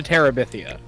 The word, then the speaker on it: Terabithia: it because uh the name you print you butchered it so badly it is Bridge to Terabithia which is based off of which is based